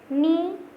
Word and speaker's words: knee: Knee, knife, not, no. So which is silent here? K. K is silent in every word.